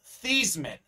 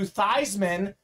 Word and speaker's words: Theismann: change his name to theisman so it can be theisman going for the heisman so his name is